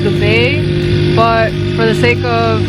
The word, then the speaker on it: Dubai: united arab emirates um dubai is actually not pronounced dubai it's pronounced the bay but for the sake of everybody being confused